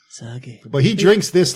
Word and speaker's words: sake: Saki.